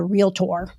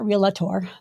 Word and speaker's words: realtor: and not be a realtor that's how they say it realtor and not realator but the the point